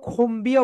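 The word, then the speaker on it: comb: কি বলবে না বলতো খুমবিও বলবে না কুমও বলবে না রাইট প্রনান্সিয়েশন কি হবে বলতো মাইয়ার সোলার এটার রাইট প্রনান্সিয়েশন হবে খোম খোম তাহলে বল ওকে এখানে বি হচ্ছে সাইলেন্ট থাকবে বি এর উচ্চারণ এখানে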